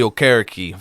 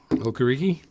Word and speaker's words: Okereke: Well, I always thought he was Okereke because that's how they said it at the draft, but they always say Okereke now. I think he changed the pronunciation of it or corrected it.